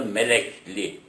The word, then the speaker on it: Melekli: Ve orada Melek Ali, telaffuzda Melekli olarak geçmiş.